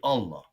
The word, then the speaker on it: Allah: When we say Allah, right? Do you know you have one aleph, a lam. The other aleph is silent. It's really not there.